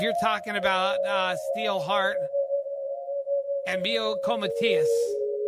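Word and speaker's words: Miljenko Matijevic: And speaking of great voices, if you're talking about Steelheart and Mio Comatias, that's the way you pronounce it.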